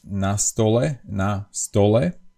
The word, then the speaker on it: na stole: And if there is a preposition in the Slovak language, like in the sentence, like we have a noun and the preposition before it, then the accent is on the first syllable, which in this case goes on the preposition. So it's like if we say on the table, in Slovak it is na stole, on the table, na stole.